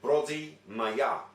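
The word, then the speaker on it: Πρωτομαγιά: Now, in English you would say the 1st of May, but in Greek you would pronounce it Brodi Maya.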